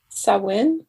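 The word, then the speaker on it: Samhain: gaelic festival of um sawin i believe is how you pronounce it and like so many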